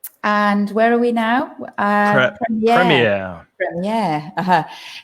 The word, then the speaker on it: premiere: Now, the premiere, like the genre, both of those words come from French. And we try in English, we always try to pronounce these foreign words in the foreign accents. It's not like Spanish, where you pronounce all your foreign words with Spanish pronunciation. In English, we don't do that. We often try to maintain the original pronunciation.